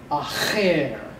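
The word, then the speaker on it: אַחֵר: Pathak is a short, unaccented vowel, which must be in a closed syllable. And if that is true, you need one chayth to close that syllable, another one to open up that syllable. And seirei is a long E as in they.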